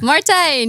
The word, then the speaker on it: Martijn: Martijn, yes. Well, you pronounce it perfectly.